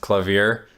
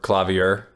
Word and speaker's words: clavier: actually gonna make fun of you because it's pronounced clove here or klavier oh cool thanks for giving me the wrong